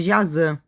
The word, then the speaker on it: Jaci: Uma curiosidade em línguas guaranis, o Y se pronuncia como ã, por isso tô chamando jáci de jazã.